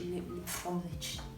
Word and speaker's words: Liebfraumilch: Liebfraumilch.